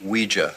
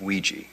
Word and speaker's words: Ouija: with what a Ouija board Ouija what it's pronounced Ouija not Ouija it comes from the French and German words